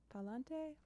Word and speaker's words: Palante: It's called Palante. I hope I'm pronouncing that correctly. That's how it is pronounced.